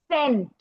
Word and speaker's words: cent: Soft सी की sound दो होती है, स, लेटर स की साउंड जैसे होती है। सेंट, सेंट की स्पेलिंग क्या होती है, CENT, बट हम बोलते क्या है, साउंड कौन सी आती है, लेटर एस की, सेंट।